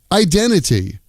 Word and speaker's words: identity: Identity becomes idenity.